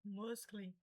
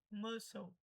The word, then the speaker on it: muscle: Provavelmente se você nunca ouviu, seria falar algo como muscle, muscle, não sei, mas isso é normal. A pronúncia correta é muscle.